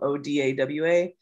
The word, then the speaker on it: Odawa: was closer to our dialect so that's why it's spelled odawa but um other than being different bands we